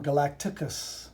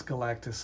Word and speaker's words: Galactus: If I had a favorite villain, it might be Galactus. And when I was a kid, I called him Galacticus. I think my name was better, Galacticus, but it's Galactus.